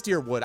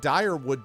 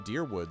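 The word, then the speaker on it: Dyrwood: know what it is it's deer it is dearwood I like direwood better but they all pronounce it in the game dearwood so I don't know I like my pronunciation better but what are you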